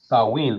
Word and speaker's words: Samhain: ancient Celtic Festival or of saen which is written samain when people would light